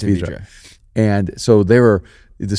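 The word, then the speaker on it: Vedra: They call it Vidra. They say it wrong, but it's Vidra.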